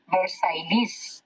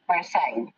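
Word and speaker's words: Versailles: এটা যদি কেউ বানান করে লিখতে যায় ইংরেজিতে তাহলে যেভাবে লিখা হবে তাতে আপনার মনে হবে যে ম্যাম উচ্চারণটা হওয়া উচিত ভার্সাইলিস, ভার্সাইলিস, কিন্তু আপনি উচ্চারণ করছেন ভার্সাই, আমি উচ্চারণ করছি ভার্সাই তা নয়, আসলে উচ্চারণটা ভার্সাই, কারণ এটিও একটি ফ্রেঞ্চ শব্দ।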